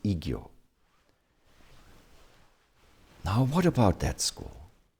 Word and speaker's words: Igyo: And I-san, Kyozan, taking the first letters I and Kyo together, is pronounced Igyo.